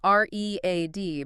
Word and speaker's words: read: Because it's spelled the same, R-E-A-D, but the pronunciation changes completely in the past tense. Exactly. Present tense, I read Rillas every day. Past tense, yesterday I read a whole book. Looks identical, sounds like the color red.